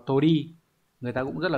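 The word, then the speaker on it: 鳥: Đây, chữ điểu sẽ đọc là tori.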